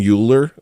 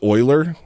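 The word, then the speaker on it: Euler: So too did Leonard Oiler. So I wanted to learn about oiler. I guess it's not even uler. It's Oiler. Spell it O I L E R.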